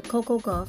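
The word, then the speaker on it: Coco Gauff: Venus Williams shout out to all the players Coco go what's her name Coco Coco go yeah Coco go I said it right all the other players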